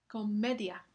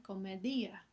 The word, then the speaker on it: comedia: We de puerto, ese es un tongo comedia. La secuencia de i y a al final de la palabra es un titongo. Si la i llevara tilde se pronunciaría comedía, pero así no se pronuncia.